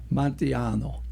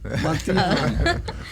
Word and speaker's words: Montejano: Montejano. Yeah, that's how you pronounce it. It is? Almost sounds Italian. Montejano.